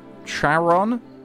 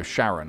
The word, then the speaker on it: Sharon: Sorry, was that Sharon? Charon? No, Sharon. I'm Sharon. I'm Sharon. It rhymes with Karen.